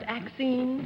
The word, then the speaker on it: Axine: Is it pronounced Axine? Yes, ma'am.